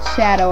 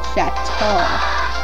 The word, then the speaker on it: Chateau: Yeah, it's an old shadow of itself. Nah, it's Old Chateau.